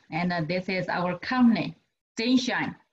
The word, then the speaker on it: ZNShine: Coating technology, and this is our company, Zenshine. Pronounced in Chinese is Zhenxin, Zhenxin, Zenshine.